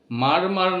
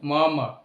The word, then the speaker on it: murmur: Without a মারমার, এখানে মারমার নয়, প্রোনাউন্সিয়েশনটা actually মারমার, অর্থাৎ আর এর যে উচ্চারণটা এখানে হালকাভাবে করতে হবে। তো হি সাইন দ্য পেপার